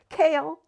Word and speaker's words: Cale: Cale, pronounced Cale, yet nothing like the vegetable, has coffee-colored eyes and smooth maple skin.